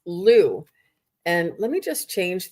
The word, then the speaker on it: Lugh: So it's Lugh, and it's pronounced Lou. And let me just go to the page. Okay. Um, okay, Lou, through persistence, action, and positive thinking, your dreams are manifesting into form, Miss Angelia.